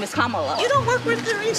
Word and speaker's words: Kamala: how to say her name earlier you said commala the way she pronounces her name is Kamala you don't work with theas see that car